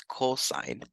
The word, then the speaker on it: cos: the first three letters so I'm going to call this COS of theta but we're still going to pronounce it as cosine again I'm just going